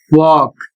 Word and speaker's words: walk: शब्द है डब्ल्यू ए एल के और इसका उच्चारण होता है वॉक और इसकी हिंदी होती है चलना।